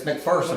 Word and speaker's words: McPherson: It's McPherson. I've been doing it. Yeah, McPherson technically, but I grew up pronouncing it McPherson, pronouncing it incorrectly, McPherson.